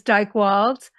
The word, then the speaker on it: Dychtwald: d y I know a lot of Maddie spell it I.E not me and the last name is Dyke wals very hard last name uh D like David